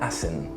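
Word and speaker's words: Asen: Hay un autor que no ha publicado muchísimo en términos de libros y eso, que se llama Aya Assen, que se escribe E-I-A, es el nombre, y el apellido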